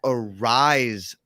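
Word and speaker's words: Araiza: um depth chart and they have name pronunciations on there and and and we have been saying it right i've heard it said a couple different ways still on different podcasts it's matt arise uh not mata raza so i think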